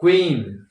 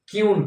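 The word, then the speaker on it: queen: गलत कर देते हैं तो क्वीन उसको लोग क्यून कह देते हैं क्वीज तो क्यूज कह देते हैं तो क्वी को क्यू कर देते हैं है ना यानी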